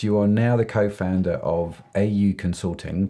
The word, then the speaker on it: Au: Fast forward a few years, you are now the co-founder of AU Consulting, pronounced O, as I've learnt. AU is a Maori term.